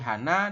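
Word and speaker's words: 하나: 1 ini dalam bilangan asli Korea bunyinya adalah hana atau han, ya.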